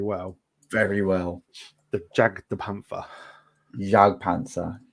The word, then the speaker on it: Jagdpanzer: Jagdpanzer. You don't pronounce the J. You don't. Jagdpanzer.